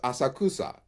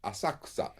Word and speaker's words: Asakusa: When you look at it, it looks like it says Asakusa, but that middle syllable is almost silent. Asakusa. The ku is silent.